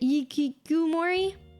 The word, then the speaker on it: hikikomori: Otakus and hikikomoris or something. Their levels of depravity are very unfortunate. They have their own. Is it ikikomori?